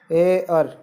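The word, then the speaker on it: heir: है वो कॉन्सोनेंट्स है, लेकिन इसका जो उच्चारण है वो हो रहा है ऐसे, जो कि एक स्वर है, इसलिए इसके आगे एन आर्टिकल का प्रयोग होगा।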